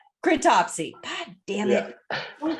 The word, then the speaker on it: Cryptopsy: Cryptopsy. Cryptopsy.